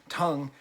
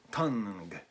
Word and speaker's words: Tunng: british folktronica group tongue is that how you pronounce it with the two ends you just call them tongue or do you call them tongue i think i'll call them tongue it's more fun that way so let's actually get